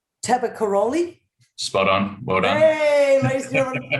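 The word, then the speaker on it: Tabakoroni: i'm going to try and say it right taba karoli spot on well done there you go i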